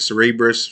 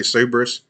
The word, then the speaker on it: Cerberus: Cerberus, I think some people pronounce it Cerebrus. Cerberus, we're just going to say Cerberus Capital Management.